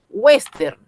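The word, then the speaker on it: wéstern: Western. Ya, western. Western, una vez más, es una palabra grave.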